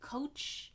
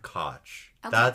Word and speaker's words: Koch: I I feel like most people say coach. I say I've heard cotch cotch. I feel like that's definitely made up.